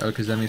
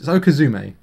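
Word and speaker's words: okizeme: to adapt and do a lot of like okazi strats okazi strats are when um okazi is based off of um it's Japanese okume is a correct pron pronunciation um I think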